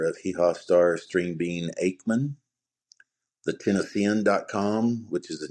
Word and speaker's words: Akeman: Aman. Okay. String bean and a spell Aman. Aman. Aman. Not Achen.